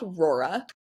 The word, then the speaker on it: Rora: So, our brand is called Rurora.